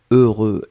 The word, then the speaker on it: heureux: deux fois heureux donc ne ne regardez pas le h ne regardait pas le x ne regardait pas le eu juste fermer les yeux visualiser c'est cette combinaison heureux heureux et après vous allez voir c'est assez facile à prononcer deuxième chose concernant ce